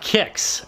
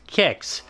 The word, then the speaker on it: Qix: well here we have kicks it's spelled qix but pronounced kicks absolutely wrong it squeaks